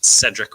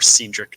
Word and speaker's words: Cedric: It's Cedric or Cedric, depending on how you like to pronunciate Benson.